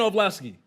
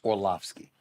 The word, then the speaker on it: Orlovsky: Where Dan Orlovsky? First of all, it's Orlovsky. So you mispronounced his name.